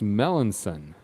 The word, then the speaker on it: Melancon: audio checks everything sound okay in the dugout Melanson okay thank you a bomb it's pronounced Melanson the see sounds like an S alright well it is the English language that's gonna happen Melanson yeah alright one out top of the 8th